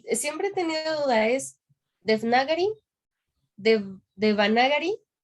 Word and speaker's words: Devanagari: Y siempre he tenido duda, ¿es Devnagari, Devanagari o como tú lo pronuncias? Porque según yo era de... Ajá, Devanagari.